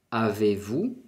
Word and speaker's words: avez-vous: Avez-vous? La Z no se pronuncia todavía, la S de la vous tampoco.